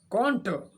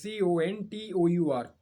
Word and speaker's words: contour: having an adverse effect on production quite clear contour the pronunciation of the next word is c-o-n-t-o-u-r contour contour that's right and can't konta means